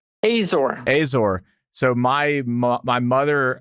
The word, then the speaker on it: Azor: your last name was uh I believe it's pronounced Azor is that right Azor Azor so my my mother uh her maiden